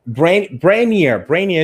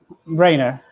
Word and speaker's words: Brainer: So Brainier is your name, right? How am I pronouncing correctly? How do you actually pronounce your name? Brainer. Brainer. Yeah, right? as brain, but As with brain.